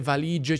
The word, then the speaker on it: valigie: E conosco la regola, se prima della C o della G c'è una vocale, si mette la I dopo. Ma mi sembra comunque un po' superflua, non si pronuncia.